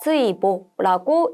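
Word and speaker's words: 追慕: 추모는 츠이보라고 읽어주시면 됩니다. 뽑을 모자는요. 응모라는 단어에 쓰는 거예요. 응모는 오우보라고 읽어주시면 되겠습니다.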